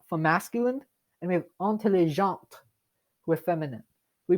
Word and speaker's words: intelligente: When it is feminine, we pronounce the T at the end. When it's masculine, we don't.